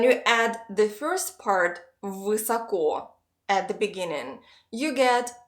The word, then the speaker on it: высоко: Let's divide the word into two parts so that it's a little easier to pronounce. The first part is высоко, which means high.